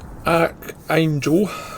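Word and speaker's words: Arkhangelsk: two places they did arc angel which is pronounced something like archangel in russian and moments there were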